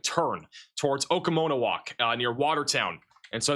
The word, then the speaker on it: Oconomowoc: Bro, I the pronunciation from Riley who lives in Wisconsin. Oconomowoc Go ahead Riley. Oconomowoc Oconomowoc?